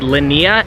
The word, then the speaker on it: Linnea: haven't done it yet, I believe for Leafeon it's called Linnea, L-I-N-N-E-A, I believe. I could be wrong, but I believe that's how you pronounce it.